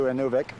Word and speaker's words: Inuvik: like that up to Inuvik or any of it whichever way you want to pronounce it which is just short